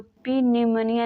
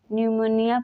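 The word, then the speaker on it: pneumonia: For example न्यूमोनिया, न्यूमोनिया में एन से पहले पी है, इसको पी न्यूमोनिया नहीं न्यूमोनिया पढ़ते हैं।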